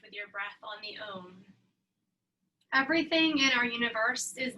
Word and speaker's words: Om: you the chant is own you'll hear some people say uh like there's more than one syllable you can say it